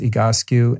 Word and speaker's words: Egoscue: of a physical therapy program called egoscue spelled ego skew s-c-u-e-e-go skew pronounced egoscue and i'll put that in the show notes